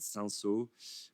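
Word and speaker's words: Cinsault: Um they have this grape called sansu which is uh like spell it c i n s a u l t.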